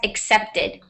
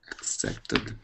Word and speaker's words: accepted: so much Marco and this is pronounced as accepted accepted thank you so much you're welcome so it's as if there's an S here okay okay okay thank